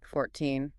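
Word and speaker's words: fourteen: 14.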